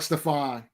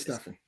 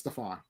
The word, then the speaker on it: Stefan: right for stefan sullivan it sounds like stefan but it is stuffing it's spelled stefan but it's staphon here we go all